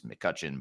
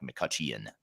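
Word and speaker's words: McCutcheon: e o n so there's an e in there that's silent but it's McCutchen but with an e in there that makes it sound like makuchan which is how I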